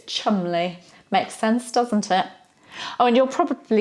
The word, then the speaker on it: Cholmondeley: pronounced like that phonetically chole monthly nobody miss all kinds of letters out when we actually pronounce it in English it's Chumley makes sense doesn't it